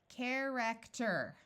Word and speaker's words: character: to a short e but I noticed this e is followed by an r and e and r together usually say ER so let's switch to ER character oh that's like the